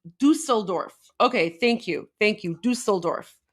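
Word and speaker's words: Düsseldorf: This is Dustelorf. This is Dustelorf from today. My heart They all the Okay, I stand corrected. It's pronounced Dusseldorf.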